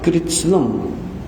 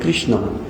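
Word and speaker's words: कृत्स्न: Many times devotees read this sloka, they by mistake pronounce as Krishna. Krishna, it is Krishna, Lord Krishna. But here it is Kritsna. Kritsna. Kritsna is everything, the whole universe.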